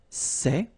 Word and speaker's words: ces: plural form so masculine plural it would be say okay and then feminine plural good news it's